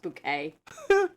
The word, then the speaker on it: Bucket: Keeping Up Appearances, where her last name is Bucket. She insists it's pronounced Bouquet.